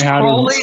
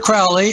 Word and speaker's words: Crowley: And it's Crowley, not Crowley, and it's UFOnauts, not UFO nuts.